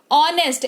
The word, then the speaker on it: honest: मुट्ठी भर जहां पर एच जो है वो साइलेंट हो जाता है। जैसे कि HONEST, ऑनेस्ट, एच के बाद ओ लगा हुआ है, ये